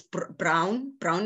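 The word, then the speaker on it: Braun: I went I learned Brawn and they called Brown it's it's spelled b-r-a-u but it's brown brown and black right um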